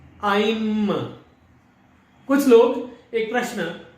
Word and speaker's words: ऐं: तो अब उच्चारण जो है वो क्या है? अ, ई, म, आइम।